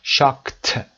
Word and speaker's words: shocked: shocked تلفظش هم دقت داشته باشید. این علامتش انتگرال گفتیم صدای ش میده. صدای شا shocked بعد از که ما ایدی رو ت میخونیم.